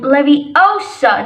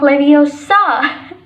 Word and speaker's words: Leviosa: It's Wingardium Leviosa, not Leviosa.